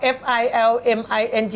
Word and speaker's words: filming: filming เกือบชัดนะคะ ขอบคุณมากครับ ทำไมไม่เอา FILMING ออกว่า framing อ่ะ เพราะว่ามันมี L นะเราต้องออกเสียง L fill แล้ว M เอาไปไหน ming มี M ดันไปอยู่กับ ING yes filming โอเคงั้นคุณออกเสียง ลองพูดสิครับ